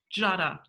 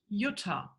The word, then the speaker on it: Jutta: My name in German is pronounced Jutta, right? I show to you how it's written in German, but pronounced it differently. Because, of course, we pronounce the same letters in a different way. And just going with my name for a second, so the in German, the is pronounced is a J in English.